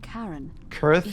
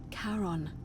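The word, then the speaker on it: Charon: It's just as you described it, only your pronunciation is a little off. The name you heard wasn't Karen Kirth, which was C H R O N, as in Karon, the fairyman of the dead.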